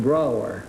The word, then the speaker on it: Brower: Riley, is that right? No, it's Dr. Brower. Brower, huh? Yes, it rhymes with B-R-O-W-E-R.